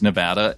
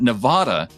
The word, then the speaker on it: Nevada: can assure you that nevada is an east coast pronunciation no self-respecting westerner even californians would say it and while new yorkers might say nevada they're entitled to their